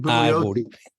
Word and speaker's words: Bugliosi: How does he pronounce his name? Bugliosi.